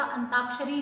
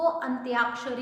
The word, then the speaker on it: अंत्याक्षरी: बड़ी की मात्रा है, तो उसको ऐसे ही पढ़ेगा, अंताक्षरी नहीं पढ़ेगा, वो उसको अंत्याक्षरी ही पढ़ेगा।